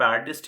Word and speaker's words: artiste: आर्टिस्ट, इसको भी आप आर्टिस्ट ही प्रोनाउंस करोगे, लास्ट में स्पेलिंग क्या है, ARTISTE मीन्स जिसमें परफॉर्मेंस वाली बात है, जिसको आप परफॉर्म करते हैं।